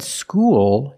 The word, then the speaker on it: school: When you said school, you used a dark L because the L is at the end of the word after a vowel.